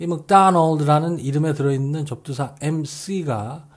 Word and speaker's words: McDonald: 사전에 나와 있는 설명처럼 McDonald의 IPA 국제 음성 기호를 보면 Mac라고 하지 않고 Muck라고 발음하도록 되어 있습니다.